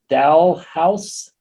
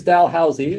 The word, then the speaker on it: Dalhousie: She earned a bachelor's in public health education and promotion from, now I'm not going to pronounce this right, Dalhousie in Halifax, Nova Scotia. That was close, Dalhousie.